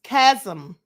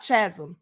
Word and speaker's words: chasm: It's chasm, not chasm, as I think I said twice.